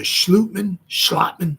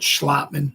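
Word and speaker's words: Schlottmann: One guy I heard said he has like a Danish or a Dutch pronunciation to his name, so his last name is pronounced Schlotman. I heard Schlotman. I've heard Schlotman.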